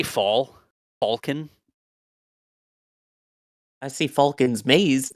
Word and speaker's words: Falcon: the uh British accent Chris says Falcon Falcon never says Falcon mhm Falcon not Falcon I guess that's us